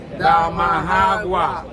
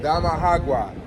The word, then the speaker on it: Damajagua: How do you say it? Damajagua. Damajagua.